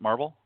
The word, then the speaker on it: Marvol: Is it Marvel? Yes, you pronounced both. Marvel.